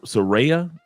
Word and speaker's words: Suereyya: yes all right and the proper pronunciation of your first name is uh s seraa you got to roll see my wife see